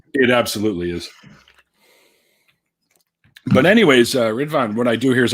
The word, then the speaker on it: Ridvan: Is that how it's pronounced? Ridvan? Ridvan?